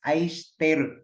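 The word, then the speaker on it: 愛してる: Pero pag makadungog ka sa ilaha, the way they pronounce is ai shiteru.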